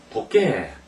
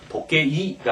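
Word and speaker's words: 時計: 도깨 이렇게 읽어야 돼요. 이것을 우리말로는 도깨, 우리말로 이제 표기를 하면 도깨 이렇게 됐습니다. 같이 도깨 이렇게 해서 도깨이가 아니고 이름 발음하는 게 아닙니다.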